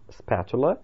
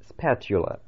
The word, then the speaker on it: spatula: Лопатка, которой мы пользуемся для того, чтобы что-либо перевернуть на сковороде, называется spatula или spatula. Ну, несколько по-разному его произносят.